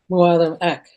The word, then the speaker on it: Mualam Ak: Mualam Ak. Mualam Ak. It was AK, right? Not IK.